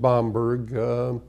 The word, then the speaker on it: Bamberg: Oh, to go see Bamberg, Germany again. They pronounce it Bamberg.